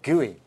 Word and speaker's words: GUI: Can you believe the collective name for all this is the Graphical User Interface, or GUI, pronounced GUI?